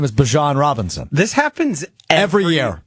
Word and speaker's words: Bijan: How you pronounce my name is Bijan for everybody that's out there. I know a lot of people say Bijan, but it's Bijan.